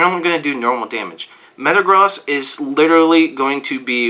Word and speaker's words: Metagross: at number one drumroll please Metagross it's actually pronounced Metagross but I've been calling it Metagross is the only Pokemon that I'll ever mispronounce